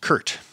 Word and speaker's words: Kurt: name and i said it's really quite simple it's just kurt and fortunately he and